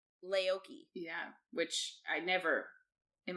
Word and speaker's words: Leuce: were both calling her Luce. Yeah. Leuce. Catherine has started listening to the audiobook. That is not how you pronounce her name. It's Laoki.